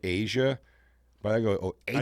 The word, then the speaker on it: Aja: It says pronounced Asia, inspired by the continent.